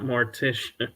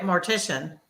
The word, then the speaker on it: mortician: Is it, because I keep wanting to say Morticia, but it's not Morticia, like Morticia, the Undertaker person. Right. But you were right, mortician.